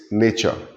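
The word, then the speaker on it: Nietzsche: Well, the spelling might look a little uh intimidating to you, but that is how we pronounce it. It's nature. Okay, Frederick nature.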